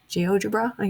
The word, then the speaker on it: GeoGebra: GeoGebra, yes, that's how you pronounce it, or the concept mapping.